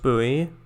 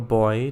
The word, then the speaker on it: buoy: Alright, I'm pretty sure they're from Idiot Buoy, or Boy, depending on how you want to pronounce it.